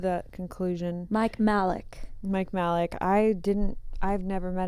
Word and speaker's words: Majlak: His last name's always really confusing because everyone says it's super I different. think the J is silent. We've come to Silent. that conclusion. Mike Majlak.